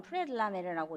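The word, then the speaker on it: Près de la mer: 이 곡은 프레들라멜, 그러니까 불어로는 프레들라멜이라고 읽고 바닷가에서 혹은 바닷가 근처에서 정도로 해석될 수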